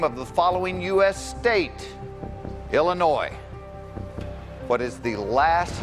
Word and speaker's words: Illinois: I know if you say Illinois, you've said it wrong. So therefore, there is an S at the end of Illinois.